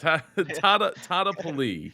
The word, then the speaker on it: Tadepalli: Wherever you're doing right now, I need some super claps for Super Dinesh Tadepalli. Did I say it right? Not bad, right? Not bad. Tadepalli.